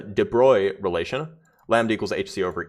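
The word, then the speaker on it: de Broglie: Um well high energy physics through the debro sorry I should pronounce right the de bruy relation lambda equals hc over e which is h over p is the momentum.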